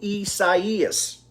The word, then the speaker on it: Isaias: week so that is the latest on hurricane isis that's how you say it there you go